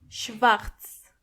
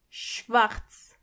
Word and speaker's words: schwarz: schwarz And make sure you are pronouncing the r correctly. schwarz schwarz Exactly.